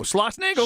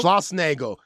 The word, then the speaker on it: Schlossnagle: How do you pronounce Jim's last name? Oh, Schlossnagle. Schlossnagle.